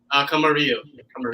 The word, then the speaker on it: Camarillo: How do you pronounce it? Camarillo.